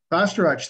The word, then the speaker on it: Bastarache: Second, we have, and I asked her how to pronounce her name, so I'm gonna mangle it. Bastarache. Bastarache, thank you.